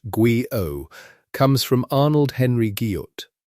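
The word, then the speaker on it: guyot: The name Guillot, pronounced Guo, comes from Arnold Henry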